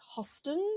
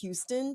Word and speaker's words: Huston: one of those few humans who used to pronounce it as Hoston Tillotson instead of Houston Tillotson.